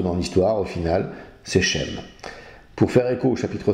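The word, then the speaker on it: שֵׁם: Sem qui se prononce chem en hébreu signifie nom.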